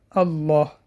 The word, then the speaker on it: الله: Запомним, всегда читается мягко, кроме в слове Аллах. В слове Аллах, если перед буквой лам стоит фатха или дамма, вот эта буква лам, которая в слове Аллах читается твердо. Аллах. Аллах не Аллах. А если перед словом Аллах стоит касра, то буква лам в слове Аллах читается мягко.